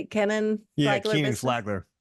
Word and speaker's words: Kenan: Kenan?